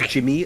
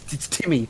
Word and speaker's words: Timmy: got this issue of getting my name wrong as well say says Jimmy a lot know why you can't spell it's Timmy gr I Timmy gr it's Timmy think I think it's